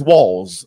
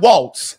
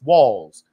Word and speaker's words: Walz: done, his name is Walz, okay? It is not Waltz. Like Walz, like in here. Right, right. And in here. It's pronounced like Walls. It's Walz, okay?